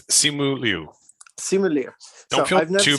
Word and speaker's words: Simu Liu: It's Simu Liu. Simu Liu. Don't feel too bad. Don't feel too bad. It's difficult to pronounce Asian names if you're not used to